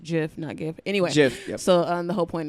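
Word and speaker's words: GIF: saying and all the the Jeff images cuz that's what this actually pronounced jiff anyway so the whole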